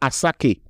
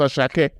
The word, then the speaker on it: Asake: tell them that um asake is naturally pronounced asak not asake why should you still be calling him aaki at this point if you Google it just Google pronunciation of that it will tell you that his name is pronounced as Shake just listen to the